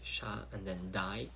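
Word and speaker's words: Shaddai: It's pronounced shakai, with a d, sha, and then dai.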